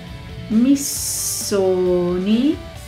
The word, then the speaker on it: Missoni: bottega veneta bottega e con 2t e bisogna pronunciarle bottega moschino sh i park sun moschino roberto cavalli doppia elle cavalli missoni doppia s missoni fila la marca sportiva now